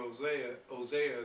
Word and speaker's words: Hosea: Those are the 10 tribes which were carried away prisoners out of their own land in the time of Hosea the king.